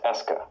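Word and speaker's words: est-ce que: now French has an over question marker pronounced Esa its spelling preserves historical facts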